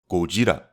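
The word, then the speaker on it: Gojira: a japanese actor and actually pronouncing godzilla by his original name kojira and i'd probably let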